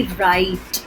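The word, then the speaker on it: write: हम बहुत सारी चीज़ें लिखते हैं, वी राइट. सो राइट का W इज ऑल्सो साइलेंट.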